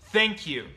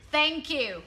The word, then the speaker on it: thank you: And the sound th is very difficult. Yeah. I see Vietnamese people struggle with this pronunciation. Mm-hmm. But I don't want you to feel silly when you put your tongue in between your teeth. That's how you make the sound.